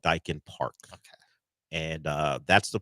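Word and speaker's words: Daikin: So it is Dyken, right? It is Dyken.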